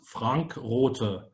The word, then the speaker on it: Rothe: Correct pronunciation is Frank Rothe. Very German, isn't it?